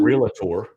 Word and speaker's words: realtor: You're welcome to those of you that are listening that realtor has two syllables, not three. It's not realtor, it's realtor.